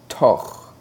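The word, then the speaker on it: תּוֹךְ: You see, there is a shva, the last letter of the word, and therefore it is silent. When the shva is silent, the only sound that you'll make is the sound of the letter itself. So again, that word is toch.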